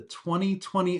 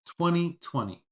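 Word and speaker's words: twenty: The way to pronounce this year is 2020. So, the word is this. The pronunciation is 20. Don't pronounce the T in the middle of the word.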